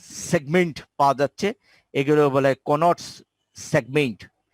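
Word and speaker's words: Couinaud: এগুলো বলে কোনটস সেগমেন্ট। কোন, আরে ডির উচ্চারণ হয় না, কোনটস বা কোনস সেগমেন্ট বলা হয়।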